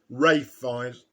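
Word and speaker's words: Ralph Fiennes: that i reviewed earlier ralph feinz delivers his usual five-star uh performance ray finds if you prefer that pronunciation uh and the journalist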